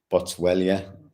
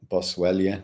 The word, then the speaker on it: Boswellia: So like I said, it has a combination of curcumin and boswellia. Boswellia. It's yeah, that's how you pronounce it.